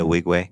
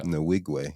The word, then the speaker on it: Nwigwe: Nwigwe. There you go. Nwigwe.